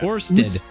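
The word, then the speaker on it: Ørsted: Is that a null symbol? It's got the O with the slash through it? Orsted. How do you say that? Orsted.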